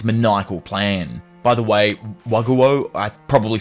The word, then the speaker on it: Wakoku: By the way, Waguo, I probably said that completely wrong, is the ancient Chinese name for Japan pronounced Wakuko in Japanese.